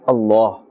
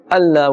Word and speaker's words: Allah: and the Blessed name Allah but here he will not pronounced with in a flat tone for a thin tone Allah Allah will be incorrect with a full mouth and a pig tone Allah Allah Oh Laura